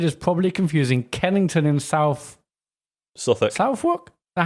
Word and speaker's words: Southwark: to say David is probably confusing Kennington in Southwark. Now, how would you pronounce that? Suffolk.